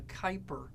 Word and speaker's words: Kuiper: of Neptune is going to be called the Kuiper belt now I know it looks like Cooper but it's pronounced Kuiper and in the Kuiper belt you're